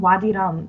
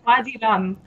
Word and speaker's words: Wadi Rum: Wadi Rum, like It's rum like you drink.